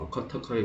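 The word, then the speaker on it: Vakataka: 왕국의 이름은 와카타카, 바카타카라고도 하는데 원래 발음을 들어보면 와카타카에 가깝습니다.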